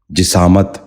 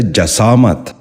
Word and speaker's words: جسامت: غور سے سنیے، جٹھانی۔ ساتواں لفظ ہے جسامت۔ یہ غلط تلفظ ہے، اس لفظ کا درست تلفظ ہے جسامت۔ دوبارہ سنیے، جسامت۔ بچوں